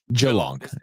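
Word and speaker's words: Geelong: Jalong. I know it has two E's, but just say one E.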